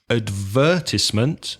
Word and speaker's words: advertisement: Advertisement, the UK pronunciation, and advertisement, stressing the third syllable.